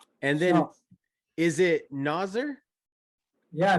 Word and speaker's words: Nozzer: Is it Nozzer? Yeah, right. Nozzer. Oh. How do you pronounce the last name?